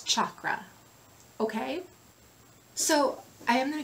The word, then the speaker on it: chakra: these wheels of light the pronunciation for those wheels of light in Sanskrit is chakra okay so I am